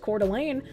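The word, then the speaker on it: Coeur d'Alene: First the fire in Cordial Lane, pronounced Cordelane, Idaho last year, and now this one.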